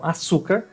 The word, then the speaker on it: açúcar: Então, açúcar, vocês vão ver que se escreve diferente, mas a origem é a mesma, o som também.